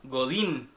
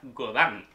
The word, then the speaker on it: Godin: Tenemos hoy día una Godin, que en realidad se pronuncia Godan. Estuvimos conversando, es Godán.